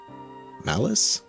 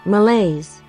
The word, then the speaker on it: malaise: form an etheric manifestation of what is that, malice? No, malai. Okay. Let's find out what this word means. Malaise.